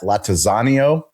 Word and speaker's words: Lattanzio: Lattanzio. Is that right? Totally butchered it, but it's totally butchered it.